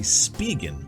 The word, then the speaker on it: Spigen: to pronounce the names I thought it was spigen or spy jet it's actually spigen SPI GN this is the cool